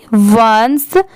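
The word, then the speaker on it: once: Metal A T eight O एन सी ई वंस जैसे ओ एन ई इसे हम वन पढ़ते हैं।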